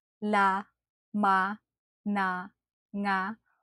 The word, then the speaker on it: nga: To produce the nang sound, try to do this. Push your tongue back and up, making sure the back part of your tongue is curled and almost touches the molar and the roof of your mouth to produce a nasal sound.